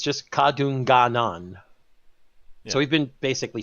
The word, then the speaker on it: Kadunganon: It's just Kadunganon.